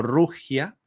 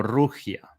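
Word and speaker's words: 儒家: el confusianismo que como concepto en China se pronuncia más o menos como rugia. Eh, en realidad confusianismo se se traduce en chino como rugia, eh una pronunciación aproximada, ciertamente.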